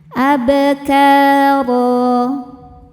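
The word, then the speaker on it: أبكارا: Huruf ro dibaca secara tafkhim karena harakatnya di atas yaitu fathah tanwin. Cara bacanya ditebalkan ro. Dan ketika berhenti di huruf ro ini maka hukumnya adalah mad iwad. Karena ada harakat fathah tanwin yang diberhentikan. Cara bacanya dipanjangkan dua harakat tanpa menyisakan bunyi n.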